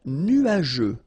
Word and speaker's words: nuageux: Un ciel nuageux. This can be quite tricky, but take the time to nuageux. Remember, final X here not pronounced.